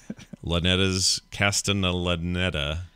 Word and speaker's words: Castellaneta: Very different than the current incarnation of Dan Castellaneta's, however you say his name, Castellaneta.